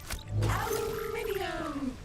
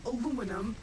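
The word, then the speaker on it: aluminium: Aluminum or aluminum as Americans pronounce it incorrectly doesn't make it any less useful.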